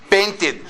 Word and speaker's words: painted: painted or painted painted why after T the Ed is pronounce the Ed as ID uhhuh painted sometimes we can use